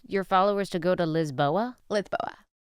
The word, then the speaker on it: Lisboa: You told your followers to go to Lisboa? Lisboa. Right. Lisboa. Say it. Lisboa. Lisbon. It's Lisbon. Lisboa. I'm not going to say it like that. Lisboa. I don't want to say Lithboa.